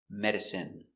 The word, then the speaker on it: medicine: We pronounce them all the same. in in Remember. medicine margarine intestine or intestines more than one genuine famine Remember, it's countable a famine famine and jasmine.